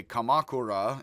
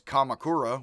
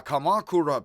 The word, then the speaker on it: Kamakura: uh i would say kamakura and of course kamakura would be the way more americans would pronounce that again i try to stress third to last syllable and set a second